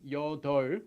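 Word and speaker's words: 여덟: hana net yo yodo this one's your dough not your dough although the pip is there they don't pronounce the pia and then this way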